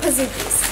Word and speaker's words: Pizookie: Okay, we are gonna eat our pizookie.